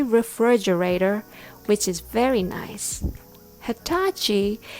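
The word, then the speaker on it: Hitachi: which is very nice Hatachi is a Japanese name pronounced with an American accent the Rhythm goes Tata Hatachi refrigerator thanks for listening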